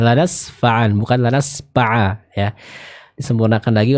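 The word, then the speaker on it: لنسفعا: Lanasfa'am huruf fa sempurnakan pengucapannya. Tadi yang saya dengar itu terbaca dengan pa ya. Jadi dengan huruf p ya. Mungkin karena logat Sunda mungkin ya. Jadi bisa disempurnakan. Jadi bukan lanasfa'am tapi lanasfa'a. Ya, lanasfa'an bukan lanasfa'a ya.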